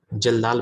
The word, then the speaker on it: Kjeldahl: उसका नाम होता है जल्दाल मेथड। यहाँ पे के साइलेंट है, के साइलेंट है। ठीक है, KJELDAHL, जल्दाल्स मेथड। ठीक है, यहाँ पे के को आपको साइलेंट करना है।